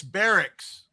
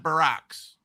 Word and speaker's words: barracks: I would say, "It's barracks, Oliver. Barracks, not Baracks."